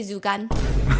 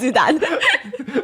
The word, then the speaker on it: Zudan: start saying it's okay, Zugan. So they're getting her name wrong cuz her name is Zudan.